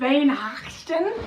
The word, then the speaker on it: Weihnachten: You would say that with a V. Drop your W and use a V sound. Weihnachten?